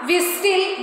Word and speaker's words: whistle: So, see here, castle. We are not saying castle, nestle, whistle. Do we say like that? No. There T is silent as it comes before the letter L.